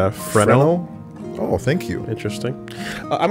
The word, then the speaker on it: Fresnel: Oh, the S is silent? Is it Fresnel?